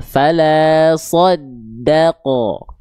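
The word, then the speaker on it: فَلَا صَدَّقَ: So-nya tebal, da-nya tipis, ko-nya tebal. Fala soddaqo. Jangan fala soddaqo, daqo. Nah, jangan sampai huruf dalnya terkontaminasi oleh huruf tebal. Karena huruf dalnya adalah huruf yang tipis karakter pelafalannya.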